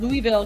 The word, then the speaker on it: Louisville: I pronounced it right this time. Louisville, Kentucky.